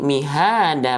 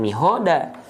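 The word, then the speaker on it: مهادا: Coba, kalau hak besar di sini dia berharokat baris atas, berarti dia dibacanya ha atau ho? Berarti ho ya, kan huruf tebal. Ho dong, samain dong sama huruf tebal yang lain. Ho dong, mihoda gitu. Tidak ya, jadi mihada bukan mihoda.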